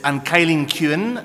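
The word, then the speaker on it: An Cailín Ciúin: cine philosophy Symposium you're probably wondering how to pronounce the name of this film it is an kyen kin and it means the quiet girl okay you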